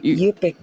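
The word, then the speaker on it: Yup'ik: It's actually Yupik, because when you say Yuchtun, you're saying in Yupik.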